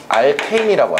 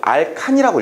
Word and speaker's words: 알케인: 자, 그러니까 먼저 탄화수소 중에 사슬 모양의 포화탄화수소들을 우리가 모두 통칭해서 알케인이라고 하죠. 예전에는 이것을 알칸이라고 읽었었거든요. 알칸?